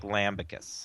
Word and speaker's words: lambicus: And this would be more like lambicus.